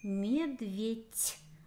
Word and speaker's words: медведь: Медведь. Звук «ть». Как проверим? Медведи. Мы изменили слово так, чтобы после согласной был гласный. И тогда четко слышно, что нужно писать букву «д».